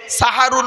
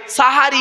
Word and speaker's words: সাহারি: দিলে সিনে জবর দিলে সাহারুন মানে হলো রাতের শেষ অংশের খাবারকে আরবিতে সাহারি বলে তাহলে শব্দটা কি হবে সেহরি না সাহারি জোরে বলুন তাহলে ভুল ভাঙলো